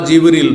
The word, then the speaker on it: জিবরীল: ফেরেশতাদের প্রধান জিব্রাইল বা জিবরীল দুইভাবে উচ্চারণ করা যেতে পারে।